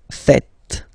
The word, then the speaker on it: faites: It's vous faites. Vous faites. Okay? So remember, final S here is not pronounced, and then this is not pronounced either. So faites, faites.